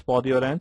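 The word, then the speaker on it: peau d'orange: there is an orange peel-like appearance known as podi-orange or pudi-orange, whatever it is pronounced as podi-orange.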